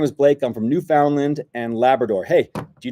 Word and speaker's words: Newfoundland: How are you pronouncing that? Newfoundland.